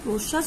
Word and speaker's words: প্রশ্বাস: দেখো আমি যখন প্রশ্বাস উচ্চারণ করছি আমি কি বলছি বস বলছি? বলছি না। মি বলছি? বলছি না। বলছি? বলছি না। আমি কিন্তু বলছি প্রশ্বাস স্বামী। তাহলে দেখো এখানে কিন্তু আমি বয়ের উচ্চারণটি উজ্জ থেকে যাচ্ছে, মানে বয়ের উচ্চারণ কিন্তু আমি বলছি না।